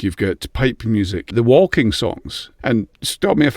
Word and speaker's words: waulking: We have what's called a walking song, and it's not just like walking along the road, it's spelt walking.